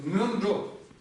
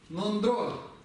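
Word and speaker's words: སྔོན་འགྲོ: То есть, смотрите, видите, как оно произносится? Мёнджо. Слышите, да? Я видел, каких я только написать не видел. Нондро. Но это очень далеко от тибетского. Давайте будем произносить правильно. Это мён. Н смягчает. Помните, мы говорили об этом, что на что она делает? Смягчает предыдущее слово, получается мён-джо.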